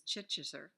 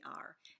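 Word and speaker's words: Chittister: The last name is Chichester. Chichester. I can't pronounce it. It's Chitttister, and I've had a block to that name ever since I've heard it.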